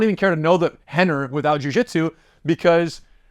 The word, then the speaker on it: Rener: can't even call him Henner with an R pronounced with an H you couldn't even do